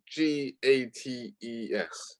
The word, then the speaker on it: Gates: oh oh d-a-t-e no g-a-t-e-s oops oh gate uh oops it rhymes with dates so that's what i